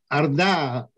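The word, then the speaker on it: orda: mr ludwak would you the arda is the original mongol pronunciation of a word that carries into english as horrid horde and this is the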